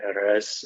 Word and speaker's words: Erez: And Erez, one of these days, I'm going to be able to pronounce that R, like the Erez, as well as you do.